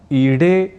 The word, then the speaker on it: ईडे: हमें ईडे ऐसा ही शुद्ध प्रयोग करना चाहिए। कुल मिलाकर गरुड़, उत्पीड़न, पीड़ा, नीड, ईडे इन शब्दों के उच्चारण के समय ड इस अक्षर का उच्चारण व लेखन करते हुए हमें हिंदी और अन्य प्रादेशिक भाषाओं से प्रभावित होकर इन शब्दों में ड की जगह ड़ का प्रयोग नहीं है करना।